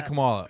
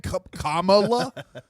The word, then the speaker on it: Kamala: You say Camala. Oh. Oh, okay. How do you say her name? Yeah. How do you say her name? Kamala.